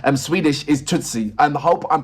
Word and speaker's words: Tusse: So in the native language, it's Swedish is Tusse. And I hope I'm pronouncing that name right as well.